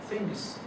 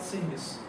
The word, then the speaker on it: things: Number one, th is pronounced as th, not really. Okay? It's not sings. Nor is it sings.